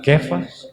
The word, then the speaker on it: Kefas: Para quem não sabe, Kefas ou Cefas é a pronúncia do nome de Pedro em hebraico.